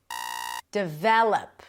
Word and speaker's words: develop: Develop. Develop. Second syllable. The develop. Very good. Not develop. Develop.